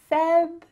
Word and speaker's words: February: Can you guess which letter is silent? Well, if you can see that color, you probably know. The letter R. So how can we say this? February. That R is just gone. Just cut it out completely.